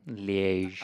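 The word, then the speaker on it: Liège: I say that right standard leash generally sorry liege I like ligue though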